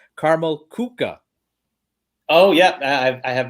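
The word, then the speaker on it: Karamell-Küche: when i'm there but i've been corrected uh a numerous times that the correct prince in the pronunciation of that establishment is carmel kuka oh yeah i i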